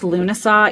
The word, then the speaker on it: Lughnasadh: It's pronounced Lughnasadh, even though it looks like Lughnasadh.